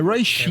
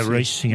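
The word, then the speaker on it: Róisín: É Roy Shin, né, que se pronuncia. É Roy Shin, acho que fala.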